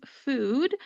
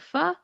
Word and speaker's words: pho: course, you can get fu. Fu is spelled pho. If you don't know how to pronounce it, you might say fo. That is not how it is pronounced.